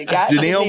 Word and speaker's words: Genile: on here so yeah just think captain inal and replace the T with a G there it is janal Morris everybody uh well